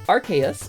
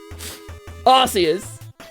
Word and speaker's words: Arceus: I believe it's pronounced Arceus because Nintendo was afraid of kids in the UK saying arse.